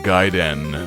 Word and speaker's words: Gaiden: destinations doo ah Ninja Gaiden no not Gaiden this is the age of the Internet he woke and pronounce it properly or not at all Gaiden is inside story not gate and that burly man